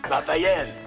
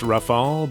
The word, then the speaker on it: Raphael: We also meet his girlfriend (“Raphael!”) It’s actually pronounced “Rafaal”, but the English spelling sure looks like “Raphael”.